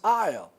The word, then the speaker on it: isle: so i'll this is isle i'll i'll of weight the isle of weight for example isle isle is not pronounced it is it is